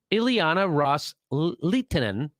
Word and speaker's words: Ileana Ros-Lehtinen: So Kerry reiterated to that offer that the Saudis and the Sunni Arab states had made to Representative Ileana Ros-Lehtinen, that's how you say her name, quote, with